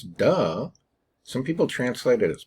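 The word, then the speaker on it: 德: into english as well right pronounce duh some people translate it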